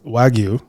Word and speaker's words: wagyu: process but uh found out that it's actually pronounced wagyu and um according to Google you know because